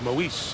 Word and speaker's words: Moise: Fletcher, the safety, came up to finish it off, and the former Eagle linebacker, Moise Foku, who now says it's Moise on his first name pronunciation, makes the stop.